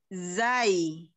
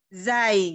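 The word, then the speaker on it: ز: Kalau zai, zai itu dia pengucapannya biasa seperti kalau ada kalau suara nyamuk z gitu.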